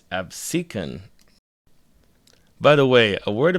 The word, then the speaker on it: Absecon: Apparently, it's not Absin, it's Absin.